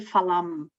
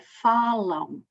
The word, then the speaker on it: falam: E também chamar a atenção que aqui nós temos um ditongo nasal, que não podem dizer falam, não é? Não podem fechar os lábios, não podem, é falam.